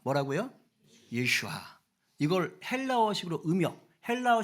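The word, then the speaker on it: יֵשׁוּעַ: 많이 쓰는 이름인 거예요 어 히브리어로는 예슈아 그럽니다 뭐라고요 예슈아 이걸 헬라어 식으로 음역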